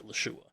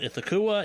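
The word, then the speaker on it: Ithaqua: The correct pronunciation by Delta Green standards is Itlashua. Itla-shua. I have grown up calling Ithakua.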